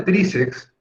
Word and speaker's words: tríceps: En el caso de tríceps, una palabra menos usada, menos conocida, ¿no? Unos músculos que hay en ciertas zonas del cuerpo, tríceps. Esta palabra, la sílaba tónica es tri. Quiere decir que es grave o llana.